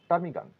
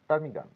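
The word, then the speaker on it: ptarmigan: group of টার্মিগান নয় এখানে পি এর কোন উচ্চারণ হবে না পি টা সাইলেন্ট থাকবে এখানে বলবো টার্মিগান টার্মিগান টার্মিগান আ গ্রুপ অফ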